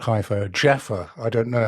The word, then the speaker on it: Jaffa: in hia not hia Jaffa I don't know how you pronounce it J A WFA like the orange we found a Shanta